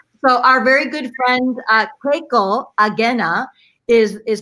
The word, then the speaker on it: Keiko Agena: So our very good friend Keiko Agena is pronounced Keiko Agena.